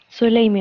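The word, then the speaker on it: Solamy: Se escribe Solami, S-O-L-A-M-Y, Y se pero se pronuncia Soleimi.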